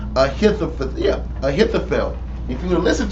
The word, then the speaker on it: Ahithophel: If Absalom would have listened to Ahithophel, I'm getting his name wrong. Ahithophel.